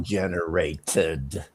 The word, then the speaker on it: generated: I cannot give it to you because the correct pronunciation of generate in the past tense is generated. And you did not pronounce the ED.